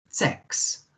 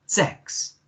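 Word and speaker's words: sechs: Das ist Nummer 6. Okay. Das ist Nummer 6. Remember the S, meaning the Z sound at the beginning. Z, E, K, S. Okay. The C and the H makes a K sound.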